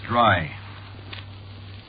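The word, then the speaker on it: Drei: sure is funny yeah but of course that ain't the way you spell it see what no you see it's a german name is it yeah sure spelled d-r-e-i it means three you know no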